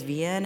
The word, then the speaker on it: Ven: the room that's like this is how you pronounce my name it's Ven and also my pronouns